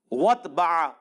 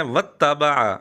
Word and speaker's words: وَاتَّبَعَ: پستی میں گرا لیا۔ وَاتْبَعَ هَوَاهُ، لفظ ہے وَاتَّبَعَ، مرزے نے پڑھا وَاتْبَعَ، شد کھا گیا، زبر کھا گیا لیکن عین پر پوری